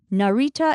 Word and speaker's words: Narita: of all in Japanese Narita Airport is Narita Narita let's break that down by syllable Narita is the name